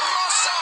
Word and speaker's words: Rosa: Nikki who is that her name is Rossa Rosa Rossa but you have to say it like you have to really roll it long pause you have